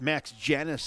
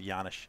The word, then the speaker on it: Janis: Hacked Max Janis out in front. Hey, Chris Mueller, welcome aboard. He says, shut him down, Wildcats. Our official scorekeeper, Steve Manfred, said it's pronounced Yanish. Yanish. I like Yanish.